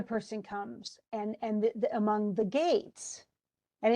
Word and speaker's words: Geats: comes, and among the gates, and it looks like Geats, but it's Gates. That's how it's pronounced.